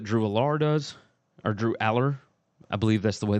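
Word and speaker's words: Allar: Look, I'm excited to see what Drew Aller does, or Drew Aller. I believe that's the way that you pronounce it.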